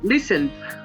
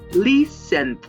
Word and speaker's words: listened: Por último, la tercera forma de pronunciar ed es solamente d. Esto es con todos los verbos que no tienen una de las terminaciones que ya mencioné en las dos primeras formas de pronunciar. Como por ejemplo con el verbo listen, que es escuchar, sería listened. Se le agrega una d al final, listened.